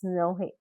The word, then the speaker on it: Samhain: So Halloween actually originated more than 2000 years ago in ancient Ireland from a Celtic festival called Samhain, pronounced as Snowhay. Correct me if I'm wrong in my pronunciation.